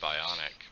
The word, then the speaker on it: BOINC: I call it Bionic, but Michael pronounces it Boink. I guess it is Boink, but Bionic sounds cooler.